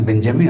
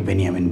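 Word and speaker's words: Benjamin: হ্যাঁ, অ্যাংলিকান উচ্চারণ বেঞ্জামিন, অনেকে বেনিয়ামিন বলেন।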